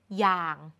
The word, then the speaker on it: อย่าง: ว่า อยู่ แบบ นี้ อย่าง เขียน เหมือน นำ ย แต่ เรา อ่าน ว่า อย่าง อ่าน เหมือน หอ นำ และ สุด ท้าย อยาก